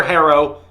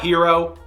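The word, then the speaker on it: Herro: Christian Braun and honestly it's Tyler Harrow it's not hero I've told you I'm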